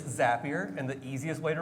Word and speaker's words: Zapier: How do you pronounce the company name? I've gone all the way from Zapier. Zapier for the Canadians, Zapier in here or French folks. It is Zapier.